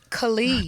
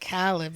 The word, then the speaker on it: Khalid: But yeah, his name is Khalid. God, It's not Khaled.